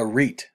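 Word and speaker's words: arête: functions of cirques a reit or a rat however you want to pronounce it i've been told it's french um is a very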